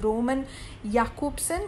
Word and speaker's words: Roman Jakobson: is written as roman jacobson but it is pronounced as roman jakobson who was the head of prague literary circle